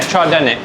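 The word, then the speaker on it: trdelník: Treadlinic. Treenic. Troenic. Oh yeah. Treenic.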